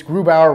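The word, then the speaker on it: Grubauer: they have one in his name's GRU Bauer get to know it's grew Bauer rhymes with boob our rounds with Boomhauer grew power is the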